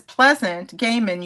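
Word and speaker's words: Pleasant Gehman: bands and um simultaneous to me doing this Pleasant Gaiman, you did pronounce her name correctly.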